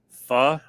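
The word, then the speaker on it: phở: Yeah, it's supposedly pronounced pho. Like F-A-H.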